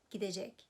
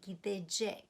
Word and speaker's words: gidecek: We don't say gidecek, although it's written like that. We say gidecek, bakacak, görecek, olacak. So in speech, the future tense pronounced somewhat differently from the spelling, and it's surprising, isn't it?